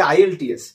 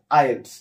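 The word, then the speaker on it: IELTS: এটার উচ্চারণ কিন্তু আইএস অনেকে অনেকে বলে আইএলটিএস এটা আইএলটিএস হবে না এটা কি হবে আইলস আইলস কেও কি আমরা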